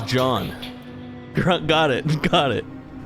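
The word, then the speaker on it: Jeanne: hurry stay another oh they pronounced her name as John got it got it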